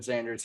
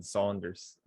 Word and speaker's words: Sanders: side of the field enough to where jason sanders has a good chance of finishing number one again respect it like some jason sanders this year i'll finish this off i started off by saying jason saunders yeah i pronounce it i pronounced it twice